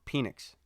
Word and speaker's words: Penix: My bad, I said his name wrong. Penix.